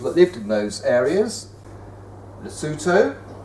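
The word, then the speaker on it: Lesotho: lived in those areas luto luto which is spelled l s o t h o here Swaziland which was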